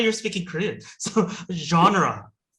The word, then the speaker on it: genre: Tim, how to pronounce 장르? Sorry. I thought you were speaking Korean. So genre. 뭐? Genre. 장르. 장르 아니래. 뭐라고요? 다시. Genre. Genre. 프렌치에서 왔기 때문에 영어 발음하고 또 달라요.